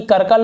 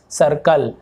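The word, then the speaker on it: circle: अब देखिए सी आई का मैंने क्या बताया, ई हो, आई हो, फिर वाह, तो ये सर्कल होगा कि करकल होगा, आप ये बताइए। नहीं, ये सर्कल होगा, सा, सर्कल।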